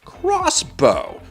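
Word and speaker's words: X-Bow: The Expo, pronounced crossbow, was their first car,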